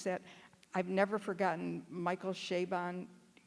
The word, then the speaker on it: Chabon: And he says the way to remember his name is Shea Stadium and Bon Jovi, or Bon Jovi.